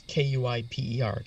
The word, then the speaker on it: Kuiper: Is that the Kuiper belt? Is that? Yes, it is. That's correct, and that's Kuiper, Kuiper. That's how it's pronounced.